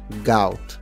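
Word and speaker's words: gout: इसे आप गोट नहीं पढ़ेंगे बल्कि इसे आप ओ और ए के सेंटर में प्रोनाउंस करेंगे, गाउट।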